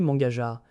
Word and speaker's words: menghajar: Mangajar, rossé, corrigé, un cran moins brutal que membantai, parfait pour un 4-1 ou un 5-1 prononcé Mangajar.